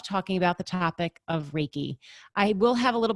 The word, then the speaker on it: Reiki: differently so you'll see it begins with r e i k i so that is reiki when we break it down rey i always think of rey like the sun and